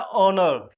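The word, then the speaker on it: honour: एच है consonant है पर साउंड क्या है? ओनर।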